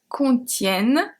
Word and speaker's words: contiennent: And you can see here that contiennent, the E is pronounced as a E because it's before two consonants.